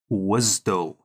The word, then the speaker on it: WSDL: But more importantly, we usually pronounce this as WSDL.